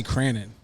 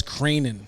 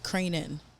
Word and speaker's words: Cranon: yeah that ain't it so it's cranan cranan yeah CR c r how would you like pronounce that like how would you spell that for someone to pronounce it the proper way Crane and then in like a crane oh crane crane crane and then I N Dash i n yeah cranen all right that's that's